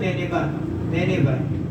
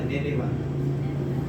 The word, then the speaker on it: Nineveh: At talagang pagkakapronounce nila doon, Nineveh. Parang Nineveh.